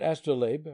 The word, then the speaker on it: astrolabe: soft sheath, and second, that astrolabe rhymes with babe.